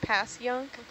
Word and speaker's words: Passyunk: um there's also fun fun ones like Passyunk but it's like pass young um they're they're rooted